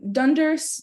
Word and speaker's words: dunder: phrase Dunder method um dunders just uh Dunder spelled like Thunder um it's it just